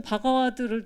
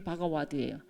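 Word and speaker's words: भगवद्: 바가 저는 바가와드를 더 맞다고 생각 원래 발음 원래 발음이 바가와드예요. V라고 명어로 표시하는데 그게 와워 발음이 납니다.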